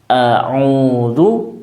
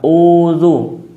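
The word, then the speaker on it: أعوذ: pangkal tenggorokan au a jangan sampai tertukar ya yang seharusnya diucapkan Alif ya menjadi Ain atau sebaliknya Ain menjadi Alif Ya seharusnya dibaca audu menjadi udu tidak demikian atau bahkan menjadi Ain semuanya tidak demikian ya atau Alif semuanya auu itu pun tidak benar yang benar adalah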